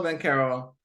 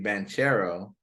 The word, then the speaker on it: Banchero: point guards but Paolo Ben Carroll I've heard today is his pronunciation should be banchero so I'll go ahead